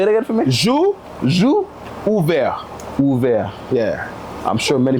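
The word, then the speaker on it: J'ouvert: Jour ouvert. Ouvert. Yeah. I'm sure many people didn't even know that's how it's supposed to be pronounced. Yeah. Well, it's Juve, right?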